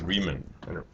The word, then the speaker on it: Riemann: I think it's Riemann. If he's German, it's Riemann.